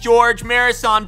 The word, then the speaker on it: Gheorghe Muresan: They call him Gheorghe. That's not his name. It's just Gheorghe Muresan.